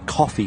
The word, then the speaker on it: Ko-fi: So what's this Ko-fi page then? Or coffee, should I say, is it pronounced?